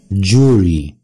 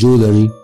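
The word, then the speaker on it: jewelry: نمبر 5 مجوهرات امريكان جوري، جوري بريتش برضو جوري، جوري مش جولري، جوري. جماعة سكوتش بس هم اللي بينطقوها جولري، ده باللهجة الاسكتلندية، اما البريتش والامريكان بينطقوها جوري، جوري.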